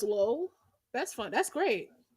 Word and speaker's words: Lol: like his name is his name is LOL but it's pronounced low that's fun that's great low Crawley LOL where is